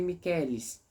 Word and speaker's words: Michaelis: ficaria Miguel em latim Miguel fica miqueles como que se escreve miqueles Michaelis mas pronúncia João João não acaba